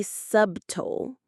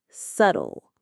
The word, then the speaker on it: subtle: The pronunciation here is a bit tricky because the B is silent. We don't say subtle, we say subtle. It rhymes with shuttle.